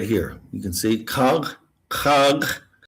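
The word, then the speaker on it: Kharg: right here you can see kag kag how it's pronounced right it is uh I guess you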